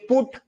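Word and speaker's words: put: डर लगता है मुझे आप ये देखो टी ओ क्या लिखा है टू ये डी ओ क्या लिखा है डू तो ये जी ओ हां मुझे समझ में आया। अच्छा ये गो है तो ये डो ये टू होना चाहिए ना फिर तो हां अच्छा ये बताओ ये सी यू टी क्या है? कट कट और ये बी यू टी क्या है? बट तो पी यू टी क्या है? तो ये पुट इसको पुट कह रहे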